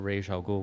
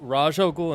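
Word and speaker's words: Ra's al Ghul: And one was because he believed, I think the illustrator thought it was based on the Jewish pronunciation, which is Raj, and the writer thought it was based on the Hebrew, or not the Hebrew, the Middle Eastern pronunciation, which is Raish. I had to make sure they weren't freaking my shit up. So Raj al Ghul and Raish al Ghul are both correct.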